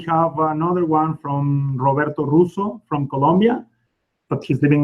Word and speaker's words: Russo: So we have another one from Roberto Russo from Colombia, but he's living in Dominican Republic. That name you pronounce. Roll with the R.